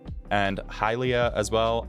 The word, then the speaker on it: Hylia: pronounce it foror and halia as well I say halia because it's Hyrule some people say it's Helia and some people pronounce the